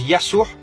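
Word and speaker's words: يسوع: passage les amis que tous les prénoms commençant par la lettre J en langue française se prononce avec le y en langue arabe par exemple Jean Joseph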